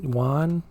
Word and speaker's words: yuan: Yuan yuan. Yuan. One syllable. Yuan. Yan. How about trying to say yuan? Really, really fast. Yuan. You'll You're still making two sounds instead of one, but maybe it's closer.